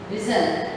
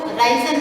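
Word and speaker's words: risen: राइस, रोज, रिजन। कई लोग जो है इसको राइजन बोलते हैं, जो कि एक तरह से गलत प्रोनाउंसिएशन है। इसका जो करेक्ट एक्यूरेट जो प्रोनाउंसिएशन है वो है रिजन।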